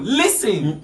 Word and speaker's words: listen: Listen. Listen. Because the T is silent.